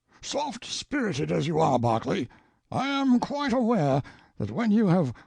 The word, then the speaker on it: Berkeley: sellers vice count berkeley of chalmundale castle warwickshire pronounced kakubri slanover marsh bank sellers vikant barkley of chumley castle workshop he is standing by